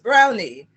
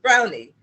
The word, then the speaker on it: Browne: name is robert dubwise brownie and the key is to emphasize the knee on the end of brown it because it's spelled like brown but it's actually pronounced brownie welcome dubs yes srila